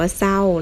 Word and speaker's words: เศร้า: ศาลา กับ รอ เรือ คำ นี้ ศ. รอ เอา เสา ไม่ โทร เศร้า คำ นี้ อ่าน ว่า เศร้า นะ คะ คำ ต่อ ไป สอ เสือ กับ รอ เรือ คำ นี้ อ่าน ว่า น.ส.